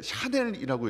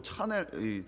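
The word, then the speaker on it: Chanel: 경우에는 예 뭐 헤르메스 저는 저게 채널로 보이는데 샤넬이라고 읽더라고요이 발음을 정확하게 저는 예전에 저거 차넬이 채널 아니냐 그랬더니 샤넬이라고 그렇게 예 부르는 가방 이름입니다 뭐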